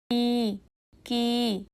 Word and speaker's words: く: এই অক্ষরের উচ্চারণ হবে কি? চলুন ধীরে বলি কি কি এখন একসাথে বলি